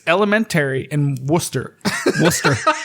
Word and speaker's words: Worcester: Scots midlo and M did you just say Worchester yeah okay so people Josh just said Worchester so one more time Worchester kilty it's called Worcester pronounced Worcester yeah worker you hick Worster kilty fine hey guess